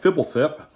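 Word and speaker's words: Fblthp: uh is our rare behind that we got fibblethip yes that is how you pronounce it the lost from ravnica block and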